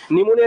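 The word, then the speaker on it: pneumonia: ডিমোনিয়া যত কিছু আছে নিউমোনিয়া রিলেটেড যেটা একটা ঠিক আছে এগুলো পি দিয়ে শুরু হয় পি থাকলে পরে এন উচ্চারণ করি ঠিক আছে পিএন থাকলে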